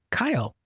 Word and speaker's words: Kiel: Kyle. Or I may not be pronouncing it. You did great. Okay. So, It's spelled Kiel, but it's pronounced Kyle.